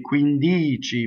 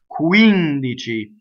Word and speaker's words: quindici: So the word, next word is quindici, which has a stress on the antepenultimate syllable. This is not a normal stress. So most stress in Italian is on the penultimate, the second to last syllable, right? So the normal stress for this word would be quindici, but it's not in this case, right? So this is the one before the second to last, quindici.